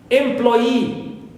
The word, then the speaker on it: employee: Also for e, like employee. So here it ends with double e, long vowel e. That's why third syllable here is stressed.